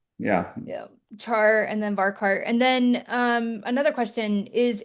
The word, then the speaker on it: varchar: Somebody asked how you pronounce Varkar.